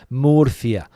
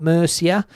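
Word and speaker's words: Murcia: Well, I'm pronouncing it like 48 million Spanish people do, my friend. Morphia. That's how you spell it. Not Mercia. Not Mercia. It's Morphia.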